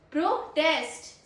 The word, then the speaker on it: protest: This one is protest. Second syllable stress.